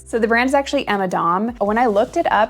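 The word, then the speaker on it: Emma Domb: And I had actually mispronounced this brand, so I thought that the B at the end was an L. So the brand is actually Emma Dom.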